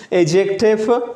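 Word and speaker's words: adjective: एजेक्टिव D silent है इसमें, एजेक्टिव इसम सिफत जो किसी नाउन या प्रोनाउन की खूबी या खामी को जाहिर करती है, राइट।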